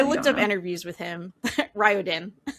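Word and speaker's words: Riordan: I've heard it pronounced so many different ways. I I looked up interviews with him. Ryodin. Ryodin.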